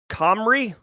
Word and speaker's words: Cymru: CYMRU is pronounced Comrie.